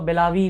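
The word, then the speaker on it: Belagavi: Karnataka and Maharashtra के बीच एक border dispute है जिसका नाम है बेलागवी, या फिर बहुत लोग इसको बेलावी भी प्रोनाउंस करते हैं।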